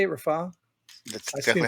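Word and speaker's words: Rafah: was he Biden warned Israel not to enter Rafa is that how you say it Rafa that's exactly how you said it yeah they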